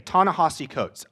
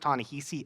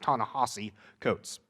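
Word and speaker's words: Ta-Nehisi Coates: one of the leading activists for anti-racism today tana hossi coates i know his name looks like it's pronounced tony he see it's not it's pronounced tana hossie coates a book of his that i read this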